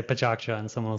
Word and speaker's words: PechaKucha: Let me hear your pronunciation. I say PechaKucha. PechaKucha.